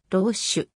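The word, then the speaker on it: Roesch: の野球選手せーの発音はローシュ 1996 年の mlb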